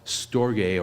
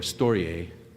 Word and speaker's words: storge: And one of them is called storge or storgay, depending on how you believe the Greeks would have properly pronounced it.